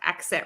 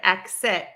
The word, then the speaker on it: exit: I just did so you can actually pronounce that word two different ways with the voiced G and z or the voiceless K and S for spelling a